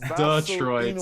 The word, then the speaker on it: Detroit: us before you said the hard d it's detroit so saku we'll probably still get somebody correct